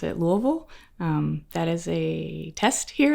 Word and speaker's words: Louisville: I pronounce it Louisville.